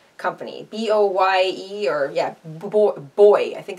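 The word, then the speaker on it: Boye: So this is an aluminum crochet hook, and this is by the Boy company, B-O-Y-E, or yeah, Boy, I think it's called Boy. I don't think you pronounce the E on the end, but anyway.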